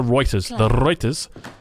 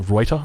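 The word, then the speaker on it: Ruyter: Just because the Reuters... Someone actually messaged me on Instagram. They're like, hey, Drongo, did you know that you're pronouncing Reuter wrong? It's actually pronounced Reuter.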